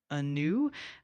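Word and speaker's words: anew: The word a new is pronounced like a new uh with the emphasis on the second syllable.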